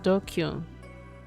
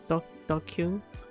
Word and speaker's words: DQN: DQN, Japanese net slang, pronounced dokyun. Used to refer to people who are stupid, antisocial, or delinquents. Dokyun?